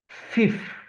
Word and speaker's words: fifth: Remember that from five we went to fifth and not five. Now this is going to be useful. We're going to have the pronunciation as fifth and then there is